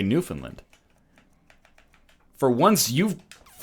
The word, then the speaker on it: Newfoundland: you know say Newfoundland I've never heard it pronounced Newfoundland yeah exactly we don't say Newfoundland here we say Newfoundland for once you are wrong